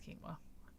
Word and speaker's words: quinoa: I feel that I I said it wrong for many years because I thought it's what it was uh no it's it's Kima my mother's like it's